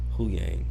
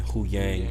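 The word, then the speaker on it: Huyang: I'm saying his name wrong, I think. Hu Yang. Yeah, it's Hu Yang. Hu Yang. Okay, yeah. I'm pretty sure.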